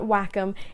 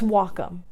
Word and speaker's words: Wacom: how to say it it's not wacom it's wacom hey guys it's